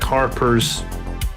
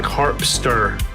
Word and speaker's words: Harpster: to hear about Jack Harper's I keep saying his name wrong sorry um it's Shaq harpster um and Jack